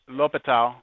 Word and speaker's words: L'Hôpital: There's an S. You don't pronounce it, you don't say it, but it's L'Hôpital.